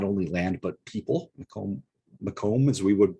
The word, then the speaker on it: Macomb: this era includes not only land but people Macomb Macomb as we would pronounce his name now was was one of